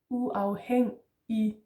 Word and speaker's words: uafhængig: And then the IG is just an E in Danish. Uafhængig.